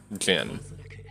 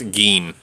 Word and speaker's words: Gin: upon the fiery dancer Jin thing he realized is the sender's name oh it's gin not Jin okay have to use Japanese pronunciation it's G is there